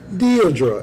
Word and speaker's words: Deirdre: But her name is pronounced Deirdre, and he put it in the message, D-E period, E-E, like, what?